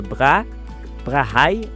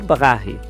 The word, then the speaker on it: Brahe: E curiosamente, não há muito consenso sobre como pronunciar esse nome. Em inglês, alguns dizem Tycho, outros Tycho, e o sobrenome pode ser Brahe ou Brahe.